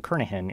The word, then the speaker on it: Kernighan: By the way, the G in Kernighan is silent.